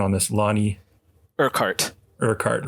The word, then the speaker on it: Urquhart: Rigav, you had just asked about the pronunciation on this. Lonnie Urquhart, right.